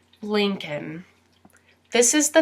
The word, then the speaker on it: Lincoln: now his last name Lincoln Lincoln and you might notice that there's another letter that also does not get pronounced in this word and that's the L lean cun and if